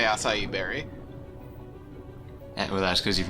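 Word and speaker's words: açaí: heard anyone not say acai berry. Well, that's because you've never heard anyone say the word. Well, there's an accent on the C, like a really obvious accent, like a Portuguese accent.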